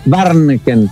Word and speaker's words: Warnken: Es un apellido difícil de pronunciar, pero hace tiempo que no lo pronuncian tan bien. Barken. Barneken.